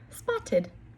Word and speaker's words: spotted: And I see the T before the ED, so I know that this ED is going to be pronounced as id. Spot. Id. Spotted.